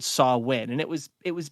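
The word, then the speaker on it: Samhain: roots of Halloween come from a Celtic Festival pronounced saw win and it's really weird how it's spelled though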